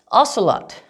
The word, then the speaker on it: ocelot: a sh ocean right but what about ocelot ocelot this is pronounced with just an s oscillate a shallot right